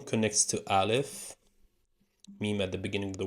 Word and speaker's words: ميم: letter number 24 meme meme not a meme which is the m of the Arabic alphabet pronounced like the letter M plain and simple